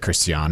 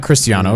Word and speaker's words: Cristiano: I just said Christian instead of Yeah. like Cristiano. Yeah, That's spelled that way, but Mister always corrects me.